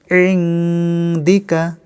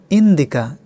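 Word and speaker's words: عندك: ইনদিকা। নুন অক্ষরে নুন সাকিনের ইকফা করতে হবে, আইন অক্ষর চেপে পড়তে হবে। ইনদিকা। অনেকে বলেন ইন্দিকা, এভাবে উচ্চারণ করলে ভুল হবে।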